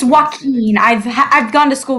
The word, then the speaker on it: Joaquin: There's like a Wait, W in the middle Joaquin?